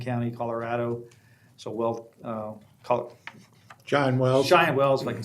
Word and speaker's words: Cheyenne Wells: Cheyenne Wells, if I can say it right. Yeah. Cheyenne Wells.